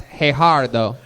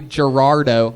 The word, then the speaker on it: Gerardo: some fun facts about hey har though I love how you say it I called you Gerardo a white guy and you're like actually my name is hey har though I with H's and